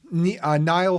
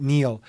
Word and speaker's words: Niall: then you have uh niall ferguson i think he pronounces it neil historian hoover institution at